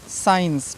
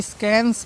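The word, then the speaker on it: science: ई एन सी ई साइंस ठीक है बहुत से बच्चे इसको स्कैंस पढ़ते हैं स्कैंस ठीक है साइंस पढ़ना है फिर मस्कल पढ़ते हैं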